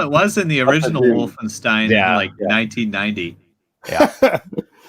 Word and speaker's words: Wolfenstein: It's actually pronounced Wolfenstein.